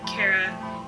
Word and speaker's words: Chara: By the way, no official pronunciations on Chara. I've heard Chara, Chara, and Chara. I'm gonna stick with Chara based on the word character.